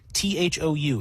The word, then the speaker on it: thou: T H O U is pronounced thou, not the th hy is pronounced thy, not they.